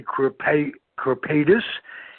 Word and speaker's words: Kripaitis: and um you you qualify as that ray crepe corpetus and if i'm not pronouncing that right uh please tell me a